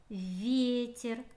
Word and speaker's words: ветер: Слово ветер. Ударение падает на Е.